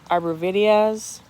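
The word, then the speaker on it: arborvitae: orange very very pretty my Arbor vitaes some people pronounce it Arbor videos there's a caramel Korbel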